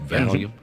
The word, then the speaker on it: Valium: Valium, is that how you say it? Yep. Valium.